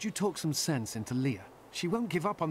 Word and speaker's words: Leah: people mis well not mispronounced i guess but pronounce her name differently um a lot of people say at leia i say leah okay what do we got here wow okay